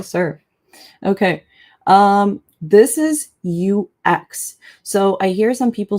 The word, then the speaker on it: UX: Um this is UX. So, I hear some people say you eeks, but it's actually UX. So, UX UI designer.